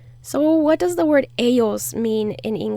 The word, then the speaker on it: ellos: out loud yes and if you're going to be traveling to argentina then say eshos eschos they'll like that a